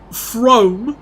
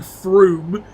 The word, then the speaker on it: Frome: Oh yeah, don't forget Frome, which is how I called it when I was younger, but it's actually Froome.